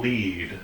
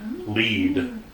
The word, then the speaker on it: Lied: And we're here to talk about Elfen Lied. Lead. Yep. Not lied. As it's spelled. No, it's spelled lead. He lied to me! Because it is German, right?